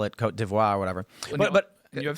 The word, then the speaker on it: Côte d'Ivoire: as Côte d'Ivoire, or how you Côte pronounce d'Ivoire. d'Ivoire? Is that It's French. Most people refer to it. They call it that. Côte d'Ivoire.